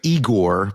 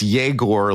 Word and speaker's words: Yegor: So it looks like Igor, but it's Yegor.